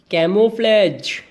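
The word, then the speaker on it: camouflage: मेरे साथ प्रोनाउंसिएशन करेंगे, बोलेंगे साथ साथ, कैमोफ्लेज। यस, एक बार फिर से रिपीट करो बेटा, कैमोफ्लेज। Camo, CAMO, camo. Fledge की स्पेलिंग FLAGE, कैमोफ्लेज, ठीक है।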